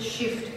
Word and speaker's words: HFST: scalp follicle simulation tattooing the acronym is hfst we pronounce it shift for Simplicity because I believe this